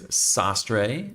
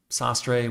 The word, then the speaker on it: sastre: It is Sastray. And I did double check. It is sastre, which is Spanish for Taylor.